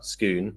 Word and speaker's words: Scone: place of Scottish kings and you nailed the pronunciation as well. Skoon not scone or scone skoon.